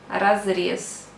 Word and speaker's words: разрез: And the last one example, разрез, you pronounce разрез, разрез.